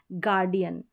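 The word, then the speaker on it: guardian: फिर आगे है जी यू का तो सिंपली ग ही उच्चारण है, तो ये है गार्डियन, जी यू, यानी जी यू को हम ग पढ़ेंगे।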